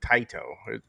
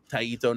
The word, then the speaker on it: Taito: how how he's saying Taiito. Taito. Now you see the Taiito. is how do you say taiito? I'm not a Did you guys take Japanese in high school? It's pronounced taito.